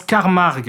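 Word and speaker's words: Carmack: Et ils arrivent à mettre la main sur le professeur Carmac. Non, ça se prononce Carmarg qui s'arrache une oreille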